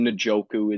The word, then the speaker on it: Njoku: here David njoku nooku could say it both ways I think nooku is the accepted pronunciation but I've long said njoku but na joku will go with because I think it's right he scored again him